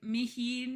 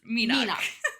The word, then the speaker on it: Meenach: No, he was like Mihinine, and then I was just like, no, it's just Meenach.